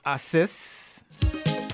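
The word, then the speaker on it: haces: Assist.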